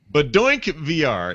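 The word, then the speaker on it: BaDoinkVR: Badink VR is the correct way to say it.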